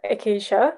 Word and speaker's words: Acacia: so hi everyone um i'm acaisha that's how you pronounce my names my actual name i